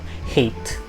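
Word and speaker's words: Haight: to haiti's place like you pronounce it like eight with the letter h hate or you know you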